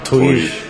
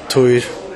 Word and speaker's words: Týr: First of all, tell us how to pronounce the band name. Tuir. And repeat, please. Tuir. Tuir. Okay. Toir?